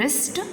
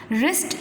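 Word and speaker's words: wrist: उन्हें हम कहते हैं रिस्ट. रिस्ट इसलिए क्योंकि डब्लू साइलेंट होता है.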